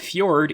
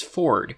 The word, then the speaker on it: fjord: It's just that the pronunciation it shows is different from how the word is pronounced. It's not kernel, it's cunnel. It's not pizza, it's pizza. It's not fjord, it's ford.